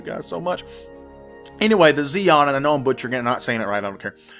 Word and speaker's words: Xi'an: And we're going to be starting off with the Xi'an, or the Xi'an. I don't know how it's pronounced. I know that the X is supposed to pronounce like a Z.